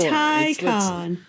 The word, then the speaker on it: Taycan: Fisker SUV, the Porsche Taycan. No, Taycan's the thing you buy in the store. Taycan. It's only two syllables, Dan.